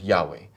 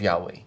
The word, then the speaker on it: Yahweh: But what that is it is a it's a misreading of the vowels that appear on the letters YHWH, on the word Yahweh.